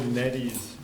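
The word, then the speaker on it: Nedde: Also, I would also like to note that Bill Neddy's name is spelled N-E-D-D-E, not N-E-E-V-E.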